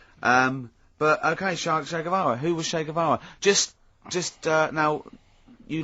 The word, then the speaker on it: Che Guevara: his name was Shea it's like Shake and his his surname is like guitar okay um but anyway